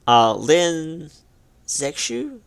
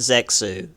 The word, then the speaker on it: Lin Zexu: Chinese and corrected me on a number of pronunciations lin zexu section it's not sex ooh it's anyway he was to stop the opium